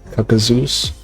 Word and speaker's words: kakuzeus: which, by the way, my name is kakuzeus. That's how you pronounce my name, kakuzeus.